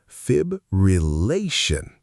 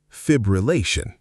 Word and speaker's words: fibrillation: Word 3, fibrillation. This one trips people up because it has 5 syllables and 2 of them feel equally important. The full correct version, fibrillation. Fibrillation. Fibrillation.